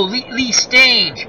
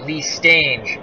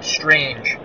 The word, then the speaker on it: Lee Stange: sounds like rang i never know how to pronounce his name so i went with uh sting range stage oh lee stage gotcha my friend thank you lee stage that sounds about right i i have a